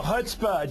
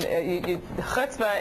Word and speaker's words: chutzpah: That's what you call chutzpah.